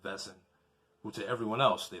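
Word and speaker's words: Wesen: of monsters called uh wesson but uh it's pronounced vessen i don't know why they turned a w into a v but i guess it sounds it's german so i don't know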